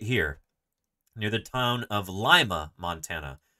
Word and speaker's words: Lima: done fieldwork right here near the town of Lima Montana it's spelled just like Lima Peru but it's pronounced Lima so I've done fieldwork here um digging up